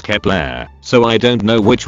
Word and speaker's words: Kep1er: is Kepler, or however you pronounce it. It's so complicated. In written it's Kep1er. But when I went to Mr. Google, they said it's pronounced as Kepler, so I don't know